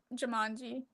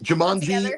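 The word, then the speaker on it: Jumanji: no it reminds me of like Jamanji is that how you say it? Yeah. And origami. Jamanji.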